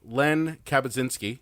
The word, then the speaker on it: Len Kabasinski: Fusion filmmaker Len Kabasinski. Did I pronounce it correct?